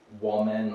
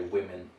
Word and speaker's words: women: in a funny way there's an o there so you may want to say women or women that's incorrect we say women so you have to